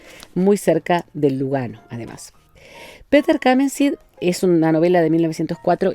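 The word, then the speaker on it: Peter Camenzind: Esta novela que se llama Peter Kamensid, y lo pronuncio así porque es alemán el nombre, ¿no?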